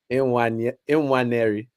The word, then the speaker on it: Nwaneri: In fact, I need to be saying his name. I was having this conversation with my mum and dad about how to pronounce it properly. So give me a second. How did they say it? Go on, teach us.